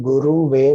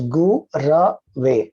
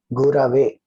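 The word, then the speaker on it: गुरवे: chanting as Tasmai Shri Guru Ve Namaha. So that is a wrong pronunciation because it is Gu Ra Ve, not Guru Ve. Gurave.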